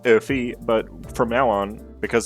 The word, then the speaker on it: Oomfie: It is pronounced Oomfie, but from now on, because that's annoying to say, we're going to call him Oomfie Heathcliff.